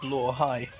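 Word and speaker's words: Blåhaj: But yeah, um so I've come to realize that blai literally means blue shark and it's pronounced blai.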